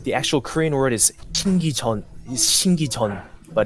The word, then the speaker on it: 신기전: And how do you pronounce the other one? It's a little strange because the actual Korean word is 신기전, but it's written as 신기촌.